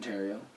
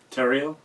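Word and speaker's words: Theriault: Austin Terrio. Terrio.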